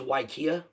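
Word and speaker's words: Waiakea: It's pronounced Waikia water.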